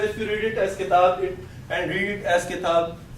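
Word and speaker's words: كتاب: And I said that it's important because when we say these words, when we pronounce single words, we don't pronounce the i'rab. Okay? We don't say kitabun. We say kitab.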